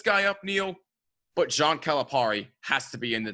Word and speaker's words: Calipari: And I'm sorry for bringing this guy up, Neil, but John Calipari has to be in the dishonorable Calipari, because Calipari. Calipari. I'm sorry, Calipari. Come on, he's Italian. You got to say it right.